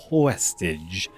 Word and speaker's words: VVestage: It's pronounced Westage. I am just going to say Westage.